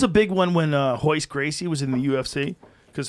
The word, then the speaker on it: Royce Gracie: uh his uh letters it starts with an r it's royce gracie okay in english but because uh he's brazilian it's portuguese they have they pronounce the r and h so it's hoist gracie no hoist hoist a